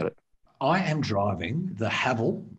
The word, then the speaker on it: Haval: I am driving the Haval, which rhymes with gravel.